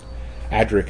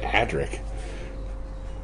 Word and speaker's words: Adric: Look at Adric. Well, it's even worse when you hear Americans say Adric, and they call it Adric.